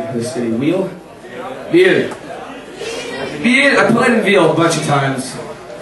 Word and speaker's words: Wil: The next song is dedicated to I played in Veal, or Wheel, how do you pronounce this name for this city? Wheel? Veal.